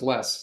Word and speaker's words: LeSS: scale scrum in fact it is pronounced less just less not we don't say